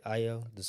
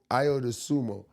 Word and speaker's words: Ayo Dosunmu: I Ayo Dosunmu. I Ayo Ayo Dosunmu.